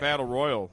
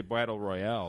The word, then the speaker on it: Battle Royale: You said Battle Royal. You didn't say Battle Royale. It's Royale.